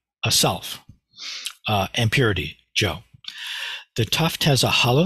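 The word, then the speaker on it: 常: is the character and this is the Japanese pronunciation Joe Bliss Raku true self G and and we'll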